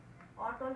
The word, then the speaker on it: অটল: যেমন দেখো, অটল, অটল কিন্তু অয় থাকছে উচ্চারণটা, কিন্তু অতি, অতিটা কিন্তু আমরা উচ্চারণ করে ফেলছি হচ্ছে অতি।